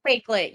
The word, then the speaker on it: Wakelet: Is that how you say it, Nairi? Wakelet? Wakelet, right? Wakelet. Wakelet, you are correct.